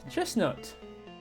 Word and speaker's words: chestnut: So it's like the t is silent I guess.